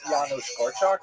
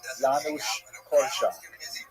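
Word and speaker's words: Janusz Korczak: Um who was Yanu Korak? That's our first of all, how do you pronounce his name? I hope I'm going to get it right. My Polish is not so good. Yanush Korch.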